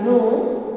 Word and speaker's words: know: K-N-O-W, no. These two words, no. Exactly same pronunciation, but their spellings are different.